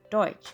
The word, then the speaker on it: Deutsch: The restaurant was probably owned by German immigrants who in those days were oftentimes mistakenly called Dutch, a mispronunciation of the word Deutsch, meaning German.